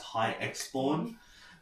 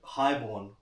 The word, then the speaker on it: HIGHXBORN: I just thought to add the X in it, you know, I was worried that people would pronounce it as high exorn, but then I kind of thought about it like, okay, let's try and be different.